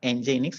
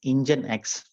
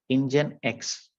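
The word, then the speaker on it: nginx: So we pron we pronounce it as not engineix it is engine x. Okay engine x.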